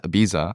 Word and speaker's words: Ibiza: It's becomes Ibiza. Ibiza. Isn't it? The locals pronounce it Ibiza.